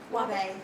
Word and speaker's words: Wahbeh: Wabe. Wabe, to testify, Judge. Okay. It's spelled Wahbeh.